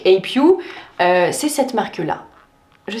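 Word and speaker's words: A'pieu: c'est la marque U qui se prononce si on le francise à pieux donc APU c'est cette marque là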